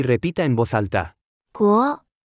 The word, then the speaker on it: 国: 国，国，国，国，国，国，国， Se pronuncia con el segundo tono.